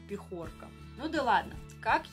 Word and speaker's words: пехорка: Да-да, вот из пехорки, ударение на букву «Е». Меня это, честно говоря, тогда немножко повеселило, когда я смотрела. До этого я никогда не слышала, чтобы кто-то так произносил это слово «пехорка». Всегда говорили только «пехорка».